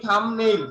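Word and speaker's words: thumbnail: এই থামনেইল, থাম মানে হলো আমাদের আঙ্গুল, আর আমাদের এই নেইল মানে কি?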